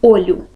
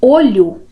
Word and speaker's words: olho: Então, com essa pronúncia aberta, olho, em vez de olho, eu tenho outra palavra.